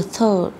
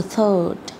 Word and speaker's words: third: The first, the first, the second, the third. Chữ này đọc là thờ, thờ. The third, the third.